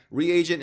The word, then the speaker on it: reagent: Reagent is three syllables. Regent is two syllables. Just FYI, it's reagent. It's not regent.